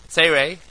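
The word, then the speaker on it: צירי: Those are pronounced as follows. Kametz is O, Patach is A, Segol is A, Tzerei is A, Chirik is E, Shurik is U, and Cholim is O.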